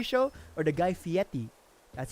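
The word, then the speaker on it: Fieri: Cuz like I don't know if you know the show Diners Drives in What was the Guy Fiery Show or the Guy Fiieti? That's how you actually pronounce his last name.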